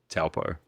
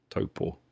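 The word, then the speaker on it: Taupo: I guess like when we moved to Toanga from Talpo, Topo, I'll say it properly.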